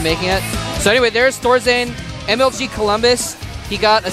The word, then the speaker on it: Thorzain: They're like asking me, they're like, is it Thorzain? I'm like, I'm with Thorzain. I had to teach him to like put his tongue between his teeth to make the TH sound.